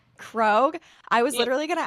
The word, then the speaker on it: Krog: wanted to make sure your last name is pronounced Grog right it's it's actually krogue krogue I was literally going to ask you that